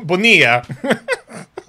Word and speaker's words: Bonilla: Seriously though, Bonilla. No, that's not how it's spelt.